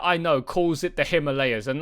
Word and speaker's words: Himalayas: This part, the Himalayas, like lay us. Like 90, just about everybody that I know calls it the Himalayas, and like you just